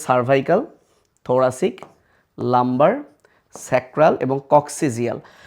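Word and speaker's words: coccygeal: দেখো এগুলো শর্ট সিলেবাসে, তোমরা জানো মানুষের কশেরুকা সিরিয়ালটা হচ্ছে সার্ভাইকাল, থোরাসিক, লাম্বার, স্যাক্রাল এবং কক্সিজিয়াল। যদিও বইয়ে কক্কিজিয়াল লেখা, এটার উচ্চারণ হচ্ছে কক্সিজিয়াল।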